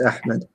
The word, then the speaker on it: Ahmed: that name Zed but it's like it's like ahed or something right no it's Ahmed okay you don't know